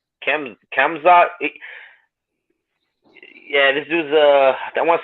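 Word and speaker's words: Khamzat: How do you pronounce his name? Kamzat.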